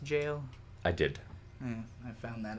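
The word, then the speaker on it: gaol: jail there as well did you know it's pronounced jail i did i found that out from my comments i like calling it gal because like jiff or jiff or gif it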